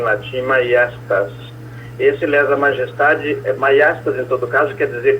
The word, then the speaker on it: maiestas: E majestade vem do latim maiestas, esse J é pronunciado I, por aquele motivo que nós acho que já explicamos, não sei.